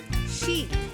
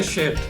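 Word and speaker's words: শীত: Can you please try saying sheet? Yeah, don't say shit. Sheep? Don't say say it like sheet.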